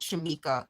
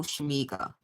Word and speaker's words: Shamika: I told them it's not like a hard G like Shamega. It's Shamika, like a soft G, like guess, not guess, but like Shamika, like that, not like with a K necessarily.